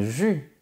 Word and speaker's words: jus: le jus de fruits fait bien attention à ne pas prononcer la lettre S on dit un jus tu peux aussi